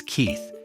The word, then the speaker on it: Keith: Enter Max Keith. Say it like kite.